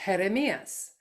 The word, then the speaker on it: Jeremías: My son's name is, with appropriate accenting, Jeremias.